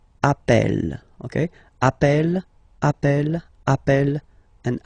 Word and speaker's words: appel: form Double L so when you get this a vowel and then you get a double consonant and well they are the same then it does change the pronunciation of uh you tend to pronounce it like e e really open that's the reason why you pronounce it app Appel okay Appel Appel Appel